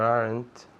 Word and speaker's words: aren't: Remember, aren't como weren't tiene una sola sílaba.